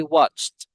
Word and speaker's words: watched: Okay, but take note that the pronunciation of that verb watch with ed d past tense, it should be watched. The ant sound should be the t sound watched. It's not watched. Okay, it's watched.